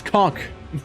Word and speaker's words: Kok: It's not how you spell it. It's K-O-K. It's cock.